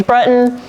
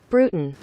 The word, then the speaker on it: Bruton: did not say James Brunton not at all man did you just mispronounce his name after watching him for seven years even Google knows how to pronounce that Bruton shameful so I'm pretty